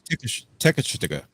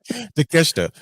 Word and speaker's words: Takeshita: Well, where is Tekashita? I can't say his name today. No, the Takeshita. Yeah, there you go. I'm saying it over here. Takeshita.